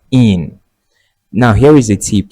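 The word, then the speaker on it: -ene: and then you add the suffix e n e which is pronounced as in.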